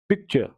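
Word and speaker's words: picture: पिक्चर पिक्चर तो are silent है।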